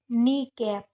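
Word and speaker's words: knee cap: के साइलेंट यह तो हो जाएगा नी और कैप नी कैप है ना।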